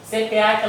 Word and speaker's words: CEPEAK: Hoje nossa palestra vai ser com o nosso querido amigo Alfredo Conceição, que ele vem lá da casa CPAC, se pronuncia assim mesmo, CPAC lá de Niterói.